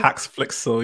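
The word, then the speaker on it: HaxeFlixel: I'd never heard of, I still can't pronounce it. Was it Haxflixel? Haxflixel, yeah.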